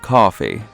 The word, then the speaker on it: Ko-fi: Daddy, it's pronounced coffee.